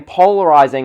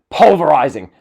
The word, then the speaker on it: polarizing: this for 15 years I genuinely thought it was pulverizing pu l ve are s ing or Zed ing but apparently it's not even that it's polar pol are are izing okay Michael Cole instead of saying polarizing it says pulverizing the most polarizing superstar